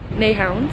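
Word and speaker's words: Nyhavn: I wanted to look up how to pronounce it because I have no idea. Oh, okay, there's an ad. Any day now. Neihound.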